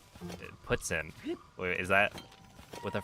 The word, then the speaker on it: poutine: Do not pronounce it as poutine. It's more like puts in.